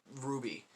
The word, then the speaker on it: RWBY: uh basically there's this show called a ruby pronounced ruby uh spelled rwby i thought that's what the